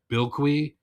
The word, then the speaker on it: Bilquis: the book by Tom King, and now I know how to pronounce the artist's first name, Bilquis, cuz that was the name of that planet.